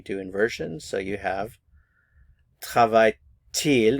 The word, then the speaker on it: travaille-t-il: So you have travaille-t-il. Normally we don't pronounce the T, but there is liaison here, so we will pronounce it in this case. So travaille-t-il, travaille-t-il, and travaille-t-elle.